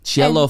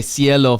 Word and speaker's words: Cielo: cello Farms yellow like I was reading it like a cello cello is spelled c-e-l-l-o okay Cielo forms then yellow Cielo forms Yellow Farms he said cello you can't do that when you're dating a